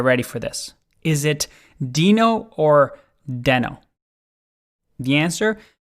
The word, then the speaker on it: Deno: before this there's there's a controversy over the pronunciation of this project um for some reason i've always been calling it denno but there's reno and dino like is why